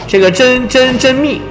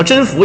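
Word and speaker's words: 甄宓: 如说啊，这个真蜜，也就是真俩多音字叫真福也行，男这个。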